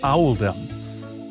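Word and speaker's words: Oldham: This choice was made to reflect the pronunciation of in the local accent, which is Owaldum.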